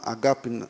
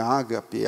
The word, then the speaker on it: agape: Agape, que a gente fala sempre ágape, né, em português, mas é que o grego não suporta a primeira sendo a sílaba tônica, né? Então não é agape, não é ágape, é agape, não é